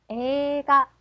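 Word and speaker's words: 映画: 자, 영화도 마찬가지죠. 자, 아, 에가. 이는 들락말락. 에가로 가시면 됩니다.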